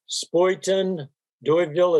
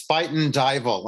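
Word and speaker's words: Spuyten Duyvil: is the oregon trail spoiten deutville is that the way you pronounce that joe i i was informed that it's spiten dival it's like a dutch dutch word yeah spite and diable yeah yeah spite and diver the same press will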